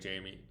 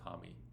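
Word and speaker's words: Jaime: Same thing with Jamie Hami. Actually, we should probably pronounce his name Hami.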